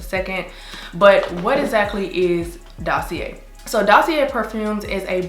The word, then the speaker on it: Dossier: Hey, so the pronunciation is actually Dossier, but carry on.